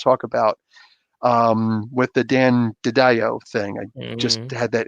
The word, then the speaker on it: DiDio: were both like, "Oh, his name is actually DiDio." I'm like, "Oh, wow!" So there's been some people saying it right, and that was not me. I was like Didio, but what I actually happened? thought that's what it was for the longest time.